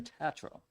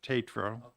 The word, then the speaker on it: Tatro: I assume you're a Tatro representative well no you're the you're not the only one that mispronounces my name it actually is pronounced Tatro long a um ever since I